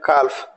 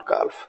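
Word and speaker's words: calf: talk C एल एफ काफ this is नॉट काफ this is कॉफ right इस तरीके से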